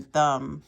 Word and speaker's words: thumb: we don't say crumb and then thumb we don't say thumb so thumb crumb and lamb go here okay and